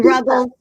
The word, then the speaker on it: Ruggles: And then Ruggles rhymes with snuggles.